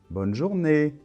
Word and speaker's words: bonne journée: bonne journée d'accord donc attention l'accent tonique est à la fin bonne journée donc voilà maintenant tu